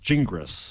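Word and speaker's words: Gingrass: was another one yeah is it g i n g r a SS yes pronounced jingis Jing think he be consistent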